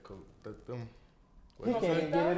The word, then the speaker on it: coquito: I'm not gonna lie, when you said coquito. He can't even get it out. Say it one more time.